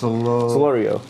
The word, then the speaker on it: Solorio: But it's Solorio. Solorio. So it's all blended together all in one. It's Soul Oreo. Soul Oreo. Yeah. That's how you say it? Solorio. Solorio. Solorio. Okay. That's easy to Yeah, remember. I guess so. A little bit of soul, a little bit of Oreo.